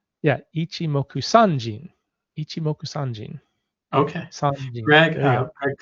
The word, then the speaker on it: Ichimoku Sanjin: And it's just so you know, it's Ichimoku Seijin.